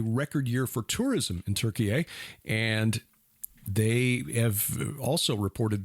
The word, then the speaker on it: Türkiye: of turkey now say they would prefer turkey a just think Thanksgiving dinner turkey yay and uh but don't